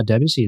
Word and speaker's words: Debussy: Another photo I think this is the Debussy I think is how you would pronounce his name. Um Yep, yep Debussy.